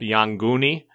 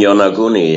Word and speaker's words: Yonaguni: contact with brought up Yanguni off of Okinawa? The Yanguni, the underwater pyramids, etc.? You mean Yonaguni? Yeah, I pronounce it different, yeah.